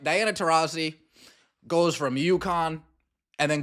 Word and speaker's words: Taurasi: don't mess this up all you have to do is say her name right Diana terisi it's terazzi it's terazzi it's tozi it's terazzi it's okay Whoopi it's